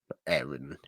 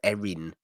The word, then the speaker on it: Aaron: Say his name properly. Yes. Aaron. So I thought you said Erin. I was trying to figure out Yeah. who Erin was. Yeah, Aaron. That's how we say Aaron.